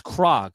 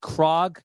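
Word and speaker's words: Krog: Um, if you go to uh Google and you uh type these words in, it's Krag. It's spelled K R O G. Crag and then street tunnel.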